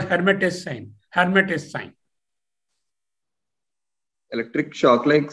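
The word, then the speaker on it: Lhermitte: L is silent. L, you did not pronounce that L. It's called Hermit's sign.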